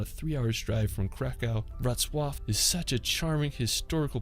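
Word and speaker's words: Wrocław: Now, after we're going to head over to the beautiful city of Ratzwaf. I mean, it's such a tricky pronunciation. Now, located in Western Poland, about a 3-hour drive from KKO, Ratwaf is such a charming historical place.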